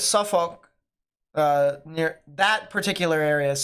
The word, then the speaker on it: Suffolk: There, they pronounce the uck a little bit more. But if you go Olk, I know some people that do that too. So it's either or. It's either or. It can be used either or. Just don't emphasize the all for the most part if you're looking at it, but Suffolk. I've heard the uck mainly pronounced as well.